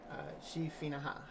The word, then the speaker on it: Sidhe Finnachaid: clear your runs of G FINA ha which is apparently the correct pronunciation a Dagon